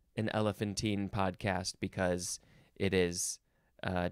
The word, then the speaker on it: elephantine: going to go the next word is elephantine or elephanttine or you can emphasize the first syllable more elephantine I guess that's how you would say it adjective from 1610 1